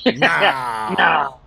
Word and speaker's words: Naal: Pronounced just like that. Does it have to be said like that? Naal.